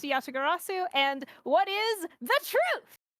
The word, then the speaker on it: Yatagarasu: it's pronounced Yatagarasu.